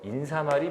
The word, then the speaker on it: 인사말: 물어본게 아니라 발음을 물어봤죠 여기 인사에 사이쇼 표기가 없기 때문에 여기는 새소리 발음이 들어갈 수가 없죠 그래서 인사말이 표준말입니다 인사말 인사말 머리말 인사말 얘는